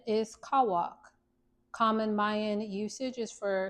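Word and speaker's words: Cauac: All right, page 114 and it reads pronunciation is kawwok.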